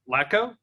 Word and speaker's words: Latko: Latko?